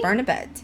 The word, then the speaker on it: Barnabet: Is that how you pronounce her name? Barnbet. Barnabet, maybe? Barnabet, yes. Barnabet.